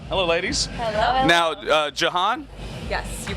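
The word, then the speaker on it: Jahan: known as kruella hello ladies hello now uh Johan yes you pronounced my name correctly I well I've heard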